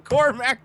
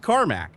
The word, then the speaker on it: Carmack: So I've been saying Cormac because you spelled it Cormac.